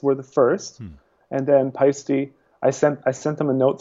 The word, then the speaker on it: Paiste: Because I've heard that it can be a nightmare with the pronunciation, but it's like feisty, it's Paiste, right? Yeah, it's Paiste.